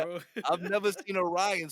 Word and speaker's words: Rian: Is that how you pronounce it? Yeah, it's just Ryan. Mark, you were saying something different yesterday. How do you say Uh, his name? I thought it was like Rian Johnson.